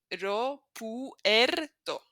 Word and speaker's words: aeropuerto: Notice we don't join, it's not e, it's aeropuerto. So we pronounce each one of them, which means airport.